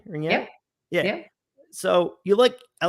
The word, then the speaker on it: ringette: Ringette?